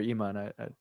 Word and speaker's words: Ayman: yeah, sorry, Dr. Iman. Yeah, pronounce it Iman.